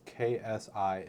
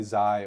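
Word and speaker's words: xi: it but um big it's pronounced KSI in modern Greek huh and generally Z or Kai in eng but it's not my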